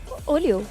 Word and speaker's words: Olio: to make things clear how do you pronounce farang olayo or leo's name olio there you go keith is only okay